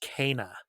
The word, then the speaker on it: Kena: is kina but uh her her name is pronounced kana yes uh so canaan bridge of spirits so